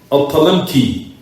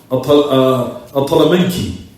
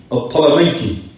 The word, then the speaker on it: al-Talamanki: There Shaykh al-Islam mentions Al-Usul li Abi Umar al-Talamki. Oh, excuse me, I'm sorry everyone. Al-Talamanki. Al-Talamanki. That's how you say it.